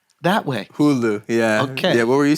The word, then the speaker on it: Hulu: yeah let him know yeah Hulu is it pronounced that way Hulu yeah yeah what were you saying um all